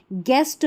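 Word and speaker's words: guest: देखिए यहाँ पर देखिए गैस है, गैस में GU के बाद E आ रहा है तो यू का उच्चारण नहीं है, ठीक है। गेस्ट में GU के बाद E है तो यू का उच्चारण नहीं है।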